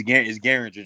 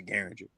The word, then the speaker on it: Gueringer: But it's Gueringer, just like the gun. Derringer is Gueringer.